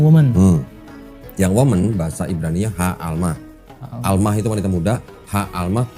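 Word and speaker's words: הָעַלְמָה: Sebenarnya kata asli dalam bahasa Ibraninya itu adalah Ha'almah, yang perempuan muda itu.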